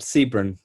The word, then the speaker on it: Sebron: How do you say your name? Siberin? Yeah. Hi. Can you hear me? How you doing? Yeah. I'm good, thanks. How are you? I'm very well, thank you. I'm enjoying all this wonderful writing. Yeah, good. It's pronounced. Yeah, you're correct. Sebron. Yeah, that's right. Oh, good. I'm surprised you got it right. Not many people do.